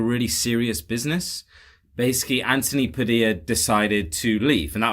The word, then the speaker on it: Padilla: I'm gonna say pad Padilla Padilla I can tell you Tyler I accept your pronounce yes dear like tortilla and ian